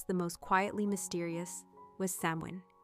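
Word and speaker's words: Samhain: Among these, the most profound, the most sacred, and perhaps the most quietly mysterious, was samin, pronounced sin.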